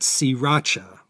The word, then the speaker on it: Sriracha: between bangkok and pattaya it's more correct to call it siracha but the locals who